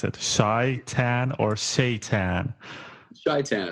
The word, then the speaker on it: Shaitan: Shaitan is fine, yeah. Shaitan. Sounds like Satan with extra steps.